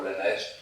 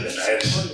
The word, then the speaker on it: Lenaers: Se puede pronunciar Lenaers porque no es inglés, no es Liners ni es Lenaers porque es un flamenco, ¿eh? Y no sabemos cómo se pronuncia en flamenco, pero lo estamos viendo por todas partes un poco como Lenaers.